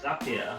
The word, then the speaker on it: Zapier: And I'm like, on the footer of the site, it says Zapier makes you happier. I've spoken to Wade and he says it like that.